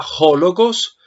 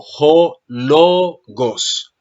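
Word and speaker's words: ὁ λόγος: el lugar del acento el acento no está en Jo sino en lo Entonces no se diría jogos como lo dijiste siempre que leíste esta expresión sino Bravo J logos Jos Bravo mira que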